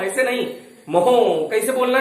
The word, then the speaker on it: mho: तो वैद्युत चालकत्व का मात्रक उल्टा होता है, देखो उल्टा इधर से, ये नई स्टाइल का मात्रक है, MHO। MHO। तो इसको कैसे कहोगे? मोहो।